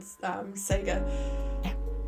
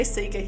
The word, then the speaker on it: Sega: was a kid on Sega. It's just sorry, we say Sega here in New Zealand, not Sega. I know it's wrong, but that's just how it's pronounced here.